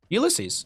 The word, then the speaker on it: Ulysses: time streaming and casting are you supposed to pronounce the hogger name tag ulysses ulysses right yeah so i thought yeah um because like there's boats named after that and i think that's the only reason why i know how to pronounce it is because i feel